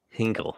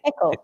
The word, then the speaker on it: Hickle: So anyway, this guy Hal Hinkle, right? Hickle. His name wrong? Hickle. The Fonzie? Pickle, like pickle.